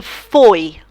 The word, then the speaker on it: foi: Fui, I went. It sounds different to foi. Foi is he, she, you went, você. Ele foi, ela foi. It's slightly different. It's eu fui, eu fui.